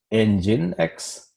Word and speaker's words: nginx: for ng Dex and there is no e in nginx but that's how the name is pronounced it is pronounced engine X but the spelling is